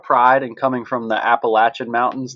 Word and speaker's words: Appalachian: a lot of pride in coming from the Appalachian Mountains not the Appalachian Mountains oh so if there's if there's a